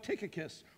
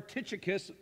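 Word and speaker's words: Tychicus: and fellow servant so he spoke of ticakus or titicicus either way I don't mind your pronunciation either way he also speaks of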